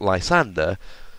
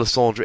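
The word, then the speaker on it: Lysandre: Lysander is misreading it because it ends RE not ER.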